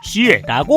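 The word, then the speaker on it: 鞋: 중국에선 신발을 슈에라고 하는데 이것도 같은 발음 다른 의미로 슈에라고 해서 사악하다라는 뜻도 가지고 있으니 신발 선물도 피하시길 권장드리고 마지막으로 배는 또 중국어로 리라고 부릅니다.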